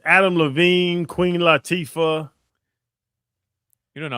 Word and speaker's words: Latifah: It's Adam Levine, Queen Latifah. You don't know how to say JT Real Muto. You don't know how to say the Queen's name. It's Latifah.